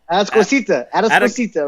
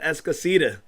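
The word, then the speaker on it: Atascocita: Atascosita, right? No, but they say it at Escosita. They say Escosita.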